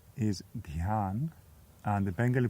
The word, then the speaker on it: Dhyan: The Sanskrit pronunciation is Dhyan, and the Bengali pronunciation is Dhyan.